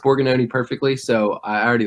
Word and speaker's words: Borgognoni: know what they were talking about but you pronounced Borgan Oney perfectly so I already like you guys beautiful